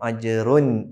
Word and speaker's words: أَجْرٌ: ഫലഹും അജ്റുൻ ഗൈറു മംനൂൻ അജ്റുൻ ഗൈറു അജ്റുൻ ഗൈറു. അവിടെയും ശ്രദ്ധിക്കണം, അജ്റുൻ അവിടെ തൻവീൻ വ്യക്തമാക്കി പറയണം. അജ്റുൻ എന്ന് വ്യക്തമാക്കി പറയണം.